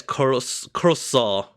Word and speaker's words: croissant: It's pronounced as croissant.